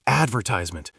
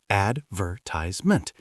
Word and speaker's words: advertisement: And advertisement. Americans put the stress on the A at the start. Advertisement.